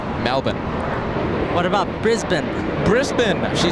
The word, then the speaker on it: Melbourne: ready an Australian viewer she told me it's Melbourne that's the pr the correct way to pronounce that City Melbourne Melbourne what about Brisbane Brisbane she said that same